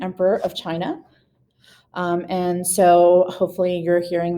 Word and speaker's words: Qin: mausoleum of the first chin emperor of china and so hopefully you're hearing that chin that's how that qin is pronounced is pronounced chin and that's where the